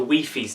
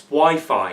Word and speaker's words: Wi-Fi: my room and you'll say hey mate the Wii fees down I'm like mate it's Wi-Fi it's not Wi-Fi it's Wi-Fi it doesn't quite